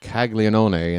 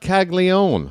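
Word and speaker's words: Caglianone: It's not Kaggle Leone.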